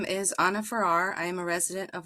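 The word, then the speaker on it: Farrar: Clyde James Verde, Clyde James Verde, Paul Adameck, Paul Adameck, Anna Farer, Anna Ferrar, Anna Ferrar, thank you for Thank you for letting me for correcting my pronunciation.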